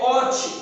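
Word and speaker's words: אות: Então, no Velho Testamento, queridos, no hebraico é ot, a pronúncia que significa prova, a palavra sinal.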